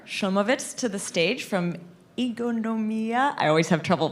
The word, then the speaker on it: Ingonyama: is Omer I'm the founder of ingoliyama this is how you pronounce it The Talk today is